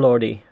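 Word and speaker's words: Lorde: the artists H and lordy Lord or lordy lordy I say Lord but I don't know I think it's pronounced Lord okay Lord great awesome I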